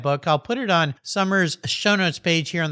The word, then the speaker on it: Somer: I'll put it on Summer's show notes page here on the Cars Yeah website.